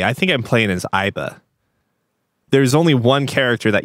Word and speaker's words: AI: yes for one thing like they have you pronounce it as AI as opposed to aibi because you can refer